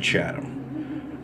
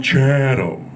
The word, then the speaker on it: Chatham: that I do because I don't pronounce it Chatham. I pronounce it Chatham. Like Mr. Hal from Gilligan's Island, you know.